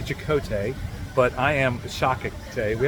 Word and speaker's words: Chakotay: Yeah, So it's actually Chakotay, but I am Shakate.